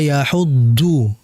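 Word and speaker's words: يحض: Dan ingat dalam pengucapan huruf dad ini rawan sekali yang namanya itu ee bocor. Bocor dalam artian ada hames, ada udara. Wala yahuddu du du du bukan du yang betul yahuddu du du du. Tidak ada udara yang keluar.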